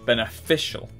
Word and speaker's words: beneficial: second to reread the more beneficial third syllable beneficial administer second syllable competitor